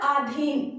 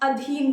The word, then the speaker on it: अधीन: एंड अधिकार होता है इसी प्रकार आधीन आधीन भी हम लोग बोलचाल के भाषा में आधी नहीं बोलते हैं लेकिन वो आधीन नहीं होता है अधीन होता है देखिए अभी इसी प्रकार